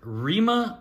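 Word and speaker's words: Rhema: Rima McKnight for the Saints, it looks like. Who? Yeah. How do you spell that?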